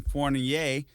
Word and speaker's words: Fournier: And guys, I'm glad to be joined by Ryan Fournier. Ryan, you may have to help me with that last name. You can to pronounce it correctly, but you can find him online. You got it right.